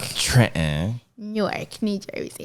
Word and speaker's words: Newark: It's Newark. Like a fork. If you come from overseas and you want to go to Newark Airport, you say Newark, like a fork. It's not Newark. Newark is in Delaware, apparently.